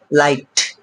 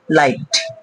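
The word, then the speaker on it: light: থাকে মানে অর্থাৎ এল আই জি এস টি লাইট এখানে আই জি একসাথে আছে একসঙ্গে আছে তাহলে কিন্তু জিএস টা এখানে সাইলেন্ট আছে লাইট নেক্সট বন্ধুরা ফাইট এফ আই জি এস টি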